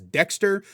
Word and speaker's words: Daxter: his sidekick Daxter which the game pronounces as Dexter but it's spelled Daxter so that's what I'm